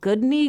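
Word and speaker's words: Gudni: by a man named goodney Gunderson or goodness goody goodney goodness goodness but it's not spelled like good like g o o d it's like g u d n i so like SL iobc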